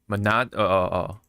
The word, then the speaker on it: Minato: How do they pronounce it? I was like Minato.